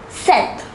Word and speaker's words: sept: The number 7 is pronounced as sept.